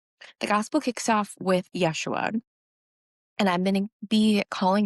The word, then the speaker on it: Yeshua: Because people were lazy and didn't want to pronounce his real name. Yeshua.